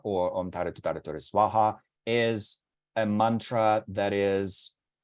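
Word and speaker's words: svāhā: Tutare Ture Swaha, or Om Tare Tutare Ture Soha, as it's commonly pronounced by Tibetans, is the green Tara mantra. That's actually incorrect, technically speaking. Colloquially speaking, we can say that, but technically speaking, not so much.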